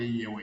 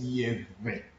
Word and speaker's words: Yewe: Some people call it Yewe Yewe. Yeah, but the word is Yeve.